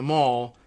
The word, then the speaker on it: mall: But I guess the English, the British English pronunciation of M-A-L-L is Mal, not Mall, like, the way we Americanize it.